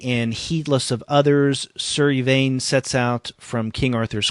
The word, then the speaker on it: Yvain: This is, I guess you pronounce it Yvain, Yvain.